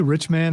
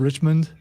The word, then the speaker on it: Richmond: never mind never mind did you say rich man instead of Richmond I I may have